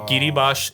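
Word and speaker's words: Kiribati: की ईस्ट में अच्छा ये किरीबाश एक और कंट्री है किरीबाती लिखते हैं स्पेलिंग में ये सारे इधर है सबसे लीस्ट विजिटेड सबसे आइसोलेटेड सोवरन कंट्रीज है।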